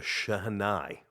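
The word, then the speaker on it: shehnai: do not know what the shahai is and that's the that's the proper pronunciation it is a uh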